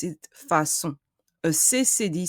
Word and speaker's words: façon: If there was no CD, I would pronounce it facon. But because of the CD, I pronounce it façon. A CCD sound resembles an S sound. It's a S sound, façon.